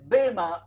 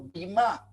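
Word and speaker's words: βῆμα: Porque la palabra tribunal es la palabra en el idioma griego que se dice bema o bimá.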